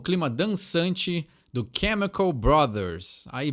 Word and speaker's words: Chemical Brothers: do Chemical Brothers are Brothers é uma palavra que a gente dá um abrasileirada né brother mas o jeito correto é a Chemical Brothers não tem esse jeitinho de falar aí que é um pouquinho diferente do que está acostumada Pede outra mais uma